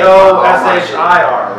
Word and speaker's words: Koshir: K-O-S-H-I-R, right? K-O-S-H-I-R. Sure. E, I ain't worried about fucking you. Yeah, no girls here. That's all. It's actually pronounced Koshir.